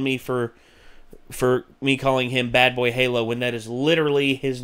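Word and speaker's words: BadBoyHalo: It's not Bed Boy Halo, it's Bad Boy Halo.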